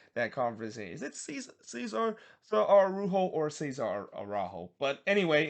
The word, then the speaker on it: Araujo: Though the first shot for Orlando did see Araujo, or Arujo, depending on how you pronounce it. He heads it wide from the corner, or actually it's Araujo, not Araujo that it is because he's not Brazilian.